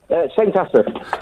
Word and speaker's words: St Asaph: How do I pronounce the name of your town, Neil? St Asaph.